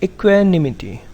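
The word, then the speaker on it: equanimity: इसको क्या प्रोनाउंस करेंगे, इक्वेनिमिटी, राइट?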